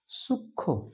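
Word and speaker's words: সূক্ষ্ম: আমি লিখে রেখেছি যুক্ত ব্যঞ্জনের সঙ্গে যদি ম ফলা যুক্ত থাকে তাহলে তা উচ্চারণ হবে না। সেটা অনুচ্চারিত থাকবে। যেমন লক্ষণ আমরা উচ্চারণ করি লক্ষণ। সূক্ষ উচ্চারণ করি সূক্ষ।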